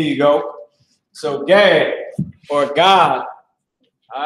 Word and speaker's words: Gad: The Native American Indian, so-called, is the tribe of God, which the white man pronounces as Gad, but is the tribe of God in the Hebrew, all right?